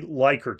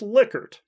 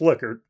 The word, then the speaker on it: Likert: liquor and he told me it should be pronounced liquor and not like her at any rate some